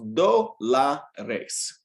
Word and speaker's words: dólares: And it's pronounced dólares.